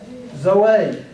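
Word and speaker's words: ζωή: Is it Zoe or Zoe? Zoe. The the emphasis is on the last syllable.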